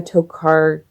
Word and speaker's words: Tokarczuk: And then I still have to work on Drive Your Plow Over the Bones of the Dead by Olga Tokarczuk. I've decided that C is silent.